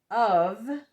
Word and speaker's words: of: So we're thinking the how to spell it, but we say v because that's what we're used to.